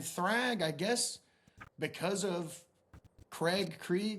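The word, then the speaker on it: Kregg: and he's he's uh General Craig in the comic which is spelled K R E G G. But in the TV show we realized that he would just be General Craig which just sounds like the name Craig.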